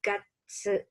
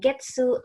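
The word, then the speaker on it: 月: Kanji ini dibaca gatsu, gatsu, gatsu. Nah ini sebenarnya bacanya nggak cuma gatsu sih, ada banyak, ada suki, ada getsu, tergantung nanti dia bertemunya dengan apa gitu.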